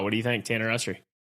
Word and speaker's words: Usrey: Usrey.